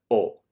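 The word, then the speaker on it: を: to confuse you we we don't pronounce the w Okay. So, it's just O. It just sounds like O.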